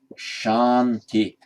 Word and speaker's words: Shanti: King Ashoka, spelled with that one, Ashoka, would be pronounced as Asoka in Pali. And how in Sanskrit, Shanti, Shanti, meaning peace, just becomes, shorten the out there, just becomes Santi in Pali.